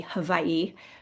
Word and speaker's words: Hawaii: Now, the one thing I do not do, W's are pronounced V in Hawaii, so like Hawaii would be Hawaii, but I don't say it like that.